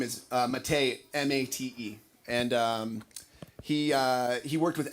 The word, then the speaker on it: Mate: Last name is Mate, M-A-T-E.